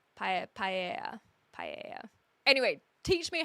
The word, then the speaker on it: paella: Paella. I honestly, I don't know how to say it properly. So the LL would be like tortilla, but it's an E, not an I. Paella. Paella.